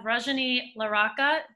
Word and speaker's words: Rajani LaRocca: We have Rajani LaRocca. Did I pronounce it correctly?